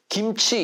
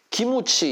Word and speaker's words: 김치: 이렇게 발음을 못 하고 김치 이렇게 발음을 못 하고 기무치 이렇게 발음을 할까요 그 이유는 일본어에는 받침이라